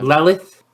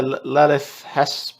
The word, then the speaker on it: Lelith: takari more specifically uh lilith horospecs is it i can't i could never pronounce her name her sporax how would you present how would you pronounce that chris is it uh lelith yeah it is yeah lalith hesperax yeah they've um they've released